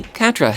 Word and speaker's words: Quatre: You can just call me Catra if that's all right. You don't mind? Catra, I didn't remember how it's pronounced. Then Catra it is.